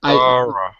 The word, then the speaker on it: thorough: Like Thorough. if you Thorough. that's Okay. right. If you're speaking quickly, it sounds like that. If you say it slowly, the proper pronunciation is thorough.